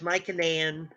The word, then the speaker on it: Mycenaean: mycenean culture uh uh you might also hear it pronounced my canaan um that's probably more correct but i learned to say it nice in the end back before people were picky about it and i'm stuck with it my brain just won't